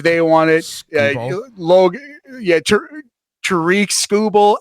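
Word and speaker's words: Tarik Skubal: Tariq Scooble. Absolutely. Trick, I believe you're right on the pronunciation there.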